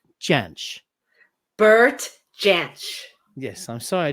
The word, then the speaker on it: Jansch: passed away though until did you say janice janich how do you say it i gotta watch who jamsh okay everybody listening let's try it all together now bert chanch bert yes i'm sorry